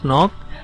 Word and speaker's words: knock: ये जो words use किए हुए हैं नॉक नॉक नॉक है ना, देखिए पहले तो उसमें जो के वर्ड है शुरू में वो साइलेंट है और नॉक का मतलब होता है दरवाजे पर दस्तक देना।